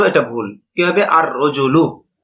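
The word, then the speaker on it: الرجل: রজলুন আলিফ লাম য আল রজুলু এটা ভুল কিভাবে আর রজুলু লামটা উচ্চারণ হবে না ব্যাস এই বিষয়টা বুঝানো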